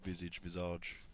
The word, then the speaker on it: Visage: It's visage. See, I say visage. It's visage. It's a French word, isn't it? And they don't pronounce it visage. You say visage. Like, you don't say rendezvous. You say rendezvous. It's their word. We'll pronounce it the way they want us to.